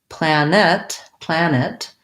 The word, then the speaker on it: planet: Planet, I have first syllable stress, but I'm going to say a sound between the N and the T, 2 syllables. So it's going to sound more like plan it, planet. And again, I might not say that T, I might just stop, planet, but you'll hear that there's 2 syllables versus plant, or plant, where I just have 1 syllable.